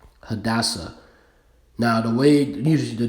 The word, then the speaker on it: Hadassah: All right, so how do you pronounce it? Hadassah. Hadassah.